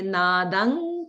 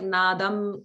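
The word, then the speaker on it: नादं: So nadam does end in anuswara. So if you want to be like a very polished pronunciation, you would say nadang kritva, angkrit, because the anuswara will be like nga in front of ka.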